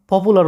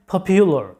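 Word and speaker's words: popular: এই শব্দটাকে তোমরা সাধারণত ভুল উচ্চারণ করে থাকো পপুলার উচ্চারণ করে থাকো সাধারণত পপুলার বলো কিন্তু এটার সঠিক উচ্চারণটা হচ্ছে পপিউলার মানে হচ্ছে জনপ্রিয় যেটার বাংলা অর্থটা হচ্ছে জনপ্রিয়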